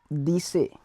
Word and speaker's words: dessert: So to desert we say dessert. Dessert, D-E-S-S-E-R-T, dessert. Spelling will be same but the pronunciation will be different.